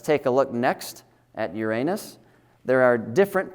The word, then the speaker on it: Uranus: of it actually is Uranus. So that's the way I'm going to say it.